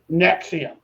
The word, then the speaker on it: NXIVM: yeah but um uh which brings me to nexium it's probably the most recent example of one